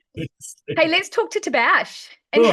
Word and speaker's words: Tabaash: Hey, let's talk to Tabash. And Sure. how do you say, how do I pronounce? It's actually Tabaash.